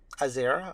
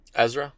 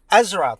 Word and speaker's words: Ezra: do you say his name what's his name azer Azura Ezra Ezra thank you I'm a little concerned because like